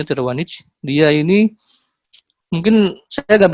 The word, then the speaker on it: Tiravanija: Rick Tiravanija, tapi dibacanya Tiravanija.